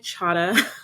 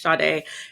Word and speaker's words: Shade: by the way shade i know my name looks like chata but it's chade it's spelled c h a d as in david a um so hello